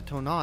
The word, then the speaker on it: Tonin: I don't want anything bad to happen to Tona, and I just met the poor little boy. Also, the fact that Tonin is pronounced Tona just tells you everything you need to know about the French lang language.